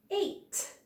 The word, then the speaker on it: ate: Ate. This is a word where A is saying its name, E is silent on the end, but it's being bossy. It's making A say its name.